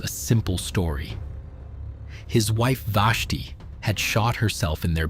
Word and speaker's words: Vashti: Vashti Seacat, pronounced Vashti, was 34 years old in the spring of 2011.